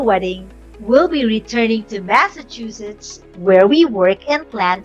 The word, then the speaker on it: Massachusetts: have the fifth word some people we say this word as Massachusetts can you guess the correct one here it is Massachusetts here's the definition has